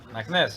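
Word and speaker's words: Meknes: Maknes, yeah.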